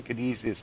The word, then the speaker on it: caduceus: Yeah, I'll send you a picture of what a caduceus coil looks like. Okay, it's being sent right now. Yeah. Right. Yeah. It's on the friendship agenda on Skype. Cadius.